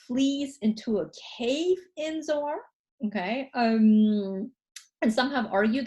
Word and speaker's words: Zoar: Okay, so I got the town name wrong. It's not Zoan, it's Zoar.